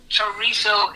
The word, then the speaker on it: chorizo: So, chorizo is partially correct, but the way in which they pronounce it at the Spanish Society, because of the dialect of the Spaniards that grew up in northern Spain, in Asturias, is chorizo. Oh. So the Z is pronounced as a TH.